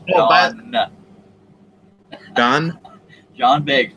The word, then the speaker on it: John: Well, Ron, go back and watch the 20 other videos. It's John. You'll learn some more. He just subscribed to you. You already got his name wrong. It's John.